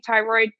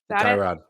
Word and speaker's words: Tyrod: with what's his name tyroid Taylor Tyrod Tyrod umro not doing bad with him because his name is spelled it looks like thyroid I I take thyroid